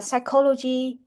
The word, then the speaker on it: psychology: So next one the letter P is silent in this word uh psychology nemonial and receive cupboard.